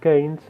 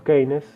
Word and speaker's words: Keynes: un economista inglés llamado john maynard james o queines depende de cómo quieran pronunciarlo estos son las tres teorías